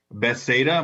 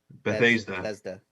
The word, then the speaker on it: Bethesda: See, Can't wait for more So- Say Skyrim. Bethesda? more- Bethesda. Bethesda. My bad. Foo has problem pronouncing. normal words.